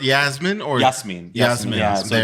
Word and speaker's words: Jasmin: Is it pronounced Yasmin or Yasmin? Yasmin.